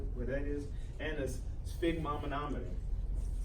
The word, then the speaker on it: sphygmomanometer: And a sphygmomanometer. Sphygmomanometer. Sphygmomanometer.